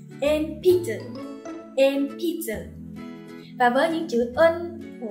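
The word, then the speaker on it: 鉛筆: Thêm một từ nữa, Enpitsu chính là cây bút chì, thì sau in mình có p. P thuộc hàng phụ âm h, cho nên sẽ đọc thành m nha. Enpitsu.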